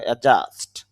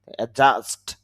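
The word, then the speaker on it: adjust: অ্যাডজাস্ট, যদিও আমরা এখানে ডি এর উচ্চারণ করি, তবে একটা নিয়ম রয়েছে যে ডি জে একসাথে থাকলে ডি শুধু লিখে আসে, উচ্চারণে আসে না, এই হিসাবে এখানে ডি এর উচ্চারণ হবে না, তাহলে উচ্চারণটা হবে অ্যাডজাস্ট, অ্যাডজাস্ট, অ্যাডজাস্টিড, অ্যাডজাস্টিড সমন্বয়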